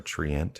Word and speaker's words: Treant: The staff Trent defends you and obeys any spoken commands. It's not a true Trent, or Treant, however they want to pronounce that.